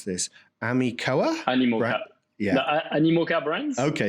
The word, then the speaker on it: Animoca: So Pixel Owl was acquired by, I don't know how to pronounce this, Animoca? Animoca.